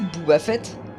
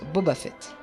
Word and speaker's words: Boba Fett: à notre dernière erreur vous connaissez booba fait houba houba fait si c'est non c'est normal car ça se prononce boba fett voilà c'est la fin